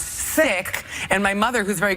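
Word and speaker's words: Cikk: the third grade because my original last name was see I kk which everyone pronounced sick and my mother who's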